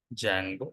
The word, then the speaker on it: Django: and mod okay perfect now activities required for application what did we do today step one we have created Jango we have to pronounce it as Django should not pronounce it